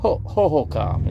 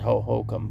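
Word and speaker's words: Hohokam: I can't pronounce it hohokom is basically the right way to say it but I always called it hohokum but anyway I went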